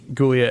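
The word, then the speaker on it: Giulia: gulia Julia gulia Gia it's a soft G gulia and Augusta as the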